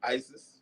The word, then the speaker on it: Isis: Yep, Isis. Okay. Because we have a neighbor and her granddaughter's spelled like that, but it's Isis.